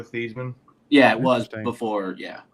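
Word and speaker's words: Theismann: campaign year for Heisman they changed Theisman because it rang with Heisman but before that he always went by Joe theisley oh I never knew that his actual pronunciation is Joe theseman yeah it was before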